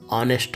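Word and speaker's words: honest: ಡಯಾಶ್ ಹನೆಸ್ಟ್ ವಮನ್ ಇಲ್ಲಿ ಆನೆಸ್ಟ್ ಪದದಲ್ಲಿ ಎಚ್ ಉಚ್ಚಾರಣೆ ಆಗೋಲ್ಲ ಆನೆಸ್ಟ್ ಆಗುತ್ತೆ ಇಲ್ಲಿ ಏನಪ್ಪಾ ಅಂದ್ರೆ ಮತ್ತೆ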